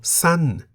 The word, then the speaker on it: สั้น: There is also san, meaning short, in the falling tone. Why the falling tone?